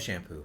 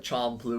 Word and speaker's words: Champloo: I love shampoo. That's what everybody thinks when they first hear it. Well, I mean, come on, it's like that's why I have to pronounce it Champloo or something like Champloo. that. Yeah. That's the proper way.